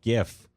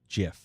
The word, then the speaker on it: GIF: no sense of course it's not like a giraffe ik it's a graphic so it's a hard G yeah nope I will